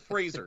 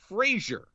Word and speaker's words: Fraser: the difference is is people default to the the the radio comedy Frasier right which is the French way to pronounce my last name because there's an i in there which is a derivative of the word strawberry no problem I love